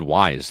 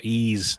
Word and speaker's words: Ys: No, I I said wise the first time I saw it. I was like, that's clearly Wise. No, Ease. I can't.